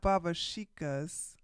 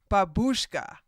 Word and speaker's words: babushka: No, it's not babashikas. Hold on. At least want to marry 5 Slavic. Babushka. Babushkas. That's what it is.